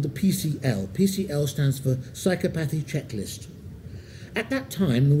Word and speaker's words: psychopathy: And believe me, these are difficult words, because you've got psychopathy with a stress on the first syllable, psychopathic with a stress on the third, and sociopathy with a stress on the second to last.